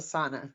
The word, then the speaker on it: sauna: what we call a sauna. Everybody else calls it a sauna, but we have the old Finnish pronunciation of it.